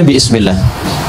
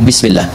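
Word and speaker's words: بسم الله: Asalnya ini ada alifnya di sini dari kata ismun begini asalnya bismillah dibaca nyambung bismillah dan cuma di bismillahirrahmanirrahim alifnya hilang. Wahyu pertama turun apa bacanya apa?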